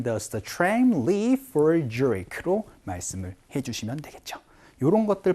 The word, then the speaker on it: Zurich: 취리라고 발음하지 않습니다. Zurich라고 얘기를 해주시는 것까지 같이 연습을 한번 해보도록 할게요. 갑시다. 시작. What time does the tram leave for Zurich로 말씀을 해주시면 되겠죠.